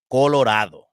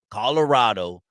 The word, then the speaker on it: Colorado: the series of fighting, let's say it right. Let's say the way the Raza says it, Colorado. Okay. Now Right. you got Colorado. Okay. Now I'm gonna say like the Gavachos say it, Colorado.